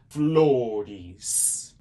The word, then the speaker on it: flores: Flores.